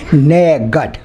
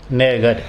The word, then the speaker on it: नयगढ़: तो चारों ओर से किला बंद है तो इसलिए ये असल में इसका पूर्ण शुद्ध उच्चारण होना चाहिए नयगढ़। नयगढ़।